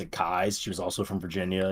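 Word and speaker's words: Keyes: around here uh Francis Parkinson kais looks like keys but she pronounced it kais she was also from Virginia you know that's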